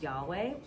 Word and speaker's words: Yahweh: in Hebrew, which is Yahweh. When you pronounce it as it's intended to be pronounced in Hebrew, it actually mimics the sound of a breath.